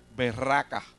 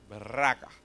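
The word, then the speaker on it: berakah: reír a ustedes, pero es realidad como se pronuncia en hebreo. En hebreo se escribe la palabra bendición, berraca. B-E-R-A-K-A-H, berraca.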